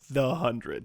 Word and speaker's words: The 100: on Wikipedia now and it definitely says pronounced the hundred just like Joe said so he's like so